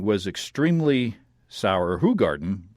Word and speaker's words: Hoegaarden: In contrast, Hoegaarden was extremely sour. Hoegaarden, I've been pronouncing it wrong, was extremely sour, sometimes described as containing sour milk-like flavors.